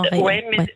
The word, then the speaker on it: Retz: Je dis bien en Ré. Ça s'écrit en Retz, mais on dit en Ré.